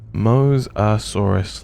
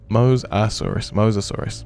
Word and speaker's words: Mosasaurus: Moasaurus like Moses. Sorry, I'm too lazy to look up how it's spelled. No, you're completely fine. Moasaurus. Mosasaurus. Mosasaurus. Thank you.